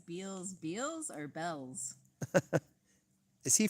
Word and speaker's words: Beals: pronounce it yeah yeah there's a store out here that looks like it's Beal's b e a LS LS b e a l LS yes but they say Bells which is weird oh